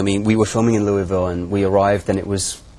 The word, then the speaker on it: Louisville: it right Louisville o Louisville yeah you need one more syllable Louisville Louisville very good very